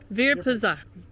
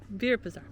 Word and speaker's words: Virpazar: Virpazar. Virpazar.